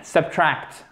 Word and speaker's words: subtract: To add, accourt, subtract, okay? Le stress, l'accent tonique, il est sur la deuxième partie.